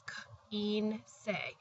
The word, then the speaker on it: quince: So it's E, because the I is pronounced as an E, so it's quince. And remember, the C next to an E sounds like an S, and then the E sounds like an A, and that's why it's pronounced quince.